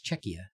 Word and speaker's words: Czechia: to say it right because that's like check like Czech Republic but it's Czechia I didn't know that